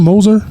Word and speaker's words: Moser: out to coach uh uh coach how you pronounce his last name Moser Moser Porter Moser Porter Moser that's how you